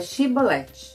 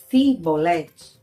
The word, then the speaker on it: Xibolet: Se ele respondesse que não, eles diziam assim: "Então diga Xibolet". Se eles dissessem sibolete com a pronúncia diferente, eles prendiam e matavam o homem, porque esse era o vestígio que eles pertenciam à tribo de Efraim.